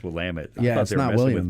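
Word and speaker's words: Willamette: of Oregon believe it or not it's actually pronounced will Amit I used to say willit for years it's I went to visit friends in Oregon oh yeah there's no I it's will lam it I thought they messing with because I'm from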